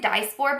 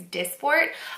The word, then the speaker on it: Dysport: call it I've heard I pronounced it dice for but I was corrected I think it's Dysport um so I heard